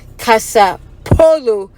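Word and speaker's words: kasapɛfoɔ: poloo okay so now because Polo is a brand in America it's easier for her to say the polo like you're playing Polo game or the polo brand so let's say Kasa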